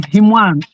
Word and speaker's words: Hima: take you to court you're mispronouncing my name I'm hima I'm a man.